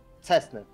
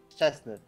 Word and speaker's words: Szczęsny: In football, you have a player named Szczęsny, and English commentators pronounce his Cessny. Szczęsny, something like this.